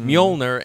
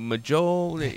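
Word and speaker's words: Mjölnir: learning words you know Thor's hammer I didn't know how to how to pronounce that when I was a kid it's molner and you know MJ and you're going maol you know what what is this and so you're learning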